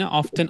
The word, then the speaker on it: often: ওকে, এইটা নিয়ে আমরা পরে কথা বলছি, আহামরি অতটা ইম্পর্টেন্ট না, বাট দুইটাই correct pronunciation, অফটেন অফেন, what ever you want to সে।